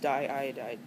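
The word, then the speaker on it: diiodide: And di iodide looks weird because it's got two eyes in the middle there together, but we don't drop the I. It's diodide.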